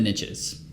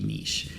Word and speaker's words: niche: riches are in the niches which is why I say niche because that rhymes with the rich yeah even though it's supposed to be nice it doesn't really matter how you say what matters is the